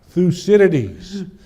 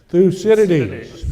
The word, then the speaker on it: Thucydides: Thucydides. So let's see if you can say that. Thucydides.